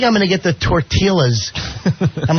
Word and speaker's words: tortillas: And he goes, I think I'm going to get the tortillas. I'm like, he's in his for How do you go through life for over 40 years pronouncing silent L's, you dummy?